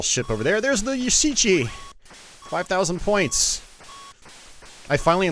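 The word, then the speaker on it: Yashichi: got that little ship over there there's the yusichi five thousand points i finally learned how to pronounce that in uh after doing my gunsmoke let's play yasichi oh god damn it all right so you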